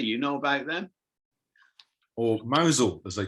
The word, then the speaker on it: Mousehole: but um but yeah mousel mousel they call it mousel that's how they say it you're in mountain now mousehole i could eat i